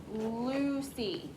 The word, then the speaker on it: Lucy: That's a soft C. It's the name of our main character, Lucy.